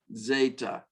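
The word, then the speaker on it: ζῆτα: Epsilon, nope, sorry, epsilon, zeta, this is our Z sound, our Z sound, zeta, actually, to be technically correct, DZ, soft Z, zeta.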